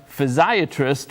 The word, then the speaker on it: physiatrist: Fox is a physiatrist with metro health thanks for joining us dr.